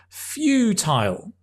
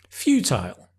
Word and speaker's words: futile: it has no effect pronunciation is although it's Fu it's few as in few people uh a few pens few Thai as in Thai all as in oh oh tile futile futile great we talk about